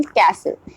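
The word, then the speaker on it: castle: word is silent T silent T के rules को हम चेक करेंगे often silent in एस टी एल ई टी ई एन एस ई एन ऑफ in silent जब भी हम टी का इस्तेमाल करते हैं एस टी एल ई या टी ई एन या एसई एन के साथ दैट टाम पर जो हमारा टी है वो हमारा प्रोनंसिएशन नहीं होता है साइलेंट हो जाता है फॉर एग्जांपल कैसल कैसल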